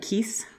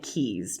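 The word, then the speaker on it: Keese: law firm Jordy and Keith but I said it wrong because Erica kept saying Keys journey and keys so we'll try to remember to say that the correct way who's he in this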